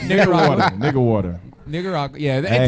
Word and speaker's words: Nicaragua: They used how you pronounce it? Nicaragua. You said it right. Nicaragua.